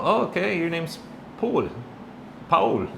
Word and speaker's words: Paul: Um I've been called cuz my name is Paul, but here in Mexico that's not such a common name. And if you do pronounce my name in Spanish, it's Pul, right? kind of like Raul but Pul.